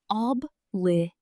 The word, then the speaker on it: obligation: Notice the stress is on the third syllable. Obligation.